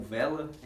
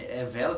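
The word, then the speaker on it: Wella: no Brasil é mais conhecido como Vela, Vela que se pronuncia, mas é escrito com W, 2L.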